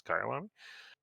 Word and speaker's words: Kyalami: this is uh kaialami i had to look up how to pronounce it didn't know if it was kailami or kaialami apparently it's kylan uh and uh yeah